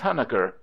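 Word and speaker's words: Huneker: he said to James huner he pronounced his name in a very eccentric fashion the first syllable like that in Hunter in our Commerce with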